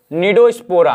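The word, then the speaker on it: Cnidospora: देखो भैया सी साइलेंट है, निडोस्पोरा हम इतना गिनेंगे ना।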